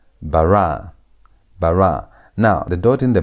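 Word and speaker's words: בָּרָא: Again, emphasis is on the tonation is on the last syllable, the last part of the word. Barra bar.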